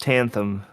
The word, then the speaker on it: Tanthyme: It's spelled like Tanthyme, but it's pronounced Tanthum.